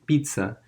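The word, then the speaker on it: Pisa: is the leaning tower of pizza it's actually pronounced pizza even though the spelling is P is a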